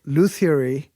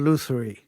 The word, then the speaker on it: lutherie: did some research and it's pronounced both loot theory and lutherie luther is what i